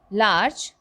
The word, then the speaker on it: large: sung the word large large as i told you the e is silent it has one syllable one syllable would you